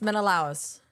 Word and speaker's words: Menelaus: Did you get Menelaus? No. No. It's Menelaus.